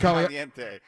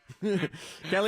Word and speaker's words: Caliendo: What wrestler is it Frank Caliente? What is it? Frank Caliendo. Frank Caliente it's Frank Caliendo, right?